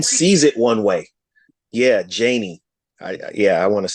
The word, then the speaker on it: Janie: Janie. Janie. See, because I want to keep calling you Janae.